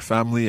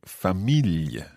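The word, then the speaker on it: familj: saying family yes so you have that kind of j sound yeah swedish g says swedish j sound at the end of the word and it kind of almost is a syllable on its own isn't it okay so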